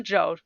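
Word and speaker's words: Zhou: Shane Dynasty uh so it's pronounced the Joe Dynasty yeah I know um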